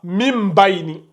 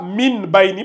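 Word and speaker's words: مِن بَيْنِ: Mim Baini. Est-ce que vous voyez? Donc, vous ne lisez pas ça, min Baini, parce que le mime est là. Donc, le mime remplace le noun.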